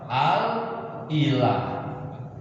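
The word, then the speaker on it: الإله: Al-ilah. Apa bacanya?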